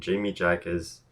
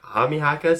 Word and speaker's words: Jaime Jaquez: is Keldon Johnson and Jamie Jaquez. I'm pronouncing it wrong, aren't I? Junior? Jaime Jaquez? Okay. It's silent, that's right, because he's Spanish.